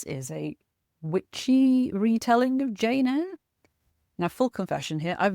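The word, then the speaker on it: Jane Aire: She's called Jane Eyre, but it's spelled Aire.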